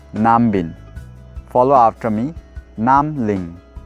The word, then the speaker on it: Nambin: So it is called as Namling, or you can also say Nambin. Follow after me. Namling. Namling. You can also say Nambin.